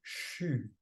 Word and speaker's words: xu: Nous avons à notre disposition un deuxième son, une deuxième vibration pour développer cette ouverture qui est le son CHU, XU, ça s'écrit XU.